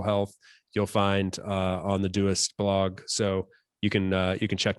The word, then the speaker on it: Doist: So the company is Doist, Doist, often pronounced Doist, but it is Doist.